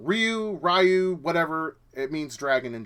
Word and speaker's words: Ryu: I've always say in 2 syllables Ryu, because you have RY and then the letter U. Okay, and if that's wrong, it's wrong. Ryu, whatever, it means dragon in Japanese.